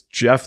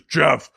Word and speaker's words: Gef: the or no sorry it's pronounced Jeff but it's spelled GF so it's Jeff the tucking Mongoose I'm